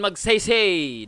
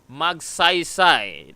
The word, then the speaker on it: Magsaysay: That's not Ramon Magsaysay. That's Ramon Magsaysay with an ah. Ah, okay? That's not Ramon Magsaysay. That's Ramon Magsaysay.